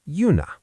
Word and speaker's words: juna: The word for train is yuna.